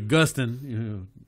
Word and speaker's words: Gustin: It's supposed to be Gustin.